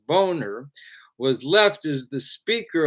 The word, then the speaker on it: Boehner: of john boehner whose name is properly pronounced boner was left as the